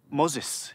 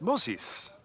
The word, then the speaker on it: Moses: also pleased to meet you're not even saying it correctly it's Moses like Moes Moses that's what to say it look at my mouth Moses Moses sesis Moses Moses like POS wait where are you